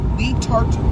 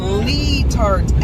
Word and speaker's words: Letart: Letart, West Virginia.